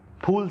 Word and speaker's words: फूल: फूल सिंह, ये चूंकि हिंदी का फै है इसलिए PH।